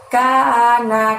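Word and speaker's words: كان: Lalu lafaz kana. Ka-nya panjangnya 2, na-nya pendek. Kana.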